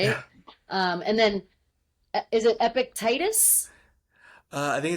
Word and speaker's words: Epictetus: I'm learning and I'm trying to learn the pronunciation Seneca, right? Yeah. And then is it Epictetus?